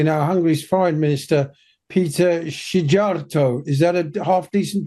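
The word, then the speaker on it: Szijjártó: union yeah exactly now hungary's foreign minister Peter sharto is that a half decent pronunciation Taylor yes yes Peter shato has snapped back accusing the bordic and Nordic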